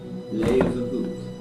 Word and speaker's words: Leeuwenhoek: L-A-Y, lay, u, then, they pronounce it with a V, Hooke, Leeuwenhoek. Anthony van Leeuwenhoek.